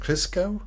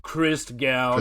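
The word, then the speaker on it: Christgau: Chris, how do you pronounce it? Chris Gal. Chris Gal. Yes.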